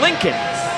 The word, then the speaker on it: Lincoln: Josh, can you spell it for the people? That is L I N C O L N Lincoln.